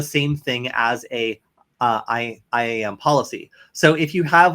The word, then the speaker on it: IAM: uh I am how what's the right way to say it Killian you you talk about this a lot more than I do uh I am is that what you're saying yeah yeah I am okay cool uh or